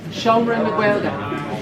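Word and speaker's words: Seomra na Gaeilge: so really quickly, this room here, Can anyone pronounce the word on the top there? Simran, Simran, never mind. No. Shomra na Gaelga.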